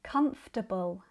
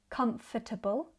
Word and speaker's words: comfortable: And one final thing, words like comfortable and vegetable technically have four syllables, but they're very often reduced to three in natural British speech. I do this all the time. Instead of comfortable, I say comfortable. Instead of vegetable, I say vegetable because it's much quicker.